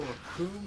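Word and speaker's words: Recoome: It all Raccoon rhymes with doom.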